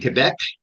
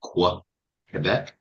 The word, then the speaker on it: Quebec: Uh in Quebec, by the way, I pronounced it correctly, not quec.